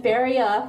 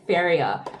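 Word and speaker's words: Féria: So when Feria first came out, I was seeing commercials everywhere for it. And it's pronounced Feria. But all of these young girls were saying, today I'm gonna use Feria.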